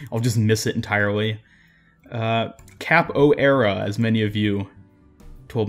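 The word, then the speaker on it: Capoeira: Cap O'Era, as many of you told me how it's pronounced.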